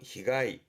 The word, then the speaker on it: 被害: 발음은 히가이.